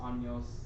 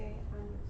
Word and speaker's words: años: ¿Cuántos años tienes? Tengo 14 años.